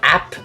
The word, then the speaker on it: AP: going to talk about app physics first thing it's not pronounced app physics it's AP Physics AP standing for advanced placement essentially and this is